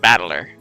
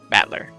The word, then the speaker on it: Battler: the characters for fight and person and it's pronounced battler battler put it all together and you've got Bushido